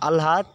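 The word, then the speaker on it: আহ্লাদ: যুক্ত ব্যঞ্জনে উচ্চারণ বর্ণানুক্রমিক হয়।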